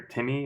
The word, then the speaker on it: Tim Mee: him a little something this is a Timmy or Timmy at our house pronounced but it's written T I M - M EE so this is a